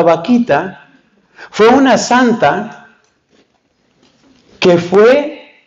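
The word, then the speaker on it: Bakhita: por el Papa Benedicto el nombre se escribe con b grande pero suena chistoso pero no tiene nada chistoso vaquita se llama Santa vaquita fue una Santa que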